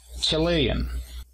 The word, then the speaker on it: Chilean: Y para decir chileno, que sería la nacionalidad, el apóstrofo se encuentra a partir de la segunda sílaba. Chilean.